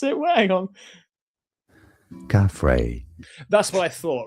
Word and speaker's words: Khafre: These were colossal, interconnected cylinders hidden deep below the Khafre, I think it's pronounced, pyramid. I actually brought it up here because I couldn't pronounce it. Hang on. Khafre.